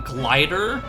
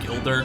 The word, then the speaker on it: Gilder: these names so like I didn't realize that his name was Gilder so I called him glider which I mean that's still a pretty cool name regardless but his name is I believe pronounced Gilder laughs apparently so